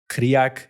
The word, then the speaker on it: Krieg: So literally, of course, the word in German, Blitz means lightning, Krieg means war, Krieg, if you're from Vienna, shout out to the Viennese out there. Good Austrian pronunciation there.